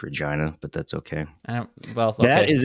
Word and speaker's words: Regina: where's where's Regina Hotchkiss town in Colorado it's pronounced Regina but that's okay that is a city in